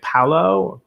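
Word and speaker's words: Palau: u.s ambassador to how do you say it paulo p-a-l-a-u um a guy named john hennessy niland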